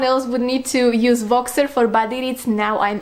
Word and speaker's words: Voxer: Also, the read along is so wonderful because I finally pushed myself into creating a Voxer account.